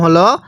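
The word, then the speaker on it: هاء: এরপরে এই হরফটির নাম হলো হা। অনেকেই এখন প্রশ্ন করতে পারেন, হুজুর আমরা উপরে একটা হা পড়লাম, এখানে একটা হা পড়তেছি। দেখুন এই হাটা উচ্চারণের সময় মুখ দিয়ে আওয়াজ করে পড়তে হবে।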